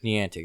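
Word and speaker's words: Niantic: that company the antic the antic that's how you say it by the antic they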